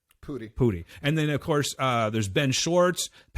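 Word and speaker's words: Pudi: Pooty.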